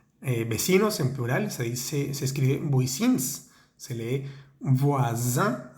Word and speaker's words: voisins: Vecinos en plural se escribe voisins, se lee voisin, haciendo vibrar esa S porque está entre dos vocales. Voisin, la B pequeña se pronuncia con los dientes, voisin.